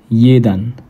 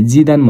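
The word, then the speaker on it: jedan: जलाई हामीले के हुन्छौ यहाँ चाहिँ जलाई के उच्चारण गर्छौ य उच्चारण गर्छौ। खासमा हामीले जिदा दान भन्थ्यो नेपालमा भएदेखि तर हामीले यहाँ चाहिँ के भन्छौ दान जीलाई चाहिँ यो उच्चारण हुन्छ।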